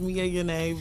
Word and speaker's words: Mia Yana: It's actually pronounced Mia Yana, but sorry, my Yana. name always been pronounced wrong.